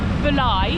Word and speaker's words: Bulli: It's actually pronounced Bulli. That's what my barber told me anyway.